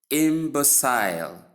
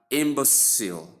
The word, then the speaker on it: imbecile: So in the first transcription, we have imbecile, transcribed as short E sound, m sound, b